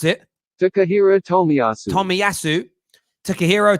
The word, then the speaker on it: Tomiyasu: out on timiyasu a player heavily how you pronounce it takahiro tommy tomiasu takahiro tomiyasu is going to arsenal not tottenham leaf is